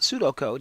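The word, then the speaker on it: pseudocode: do throughout the program, because I think in English they ought to write it the way it's pronounced. So rather than that pseudo stuff, we just call it Sudocode.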